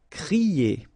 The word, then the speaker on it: crier: So when you combine this C and R, you get the sound cr. Okay, so crier. Okay, but not too strong. Crier.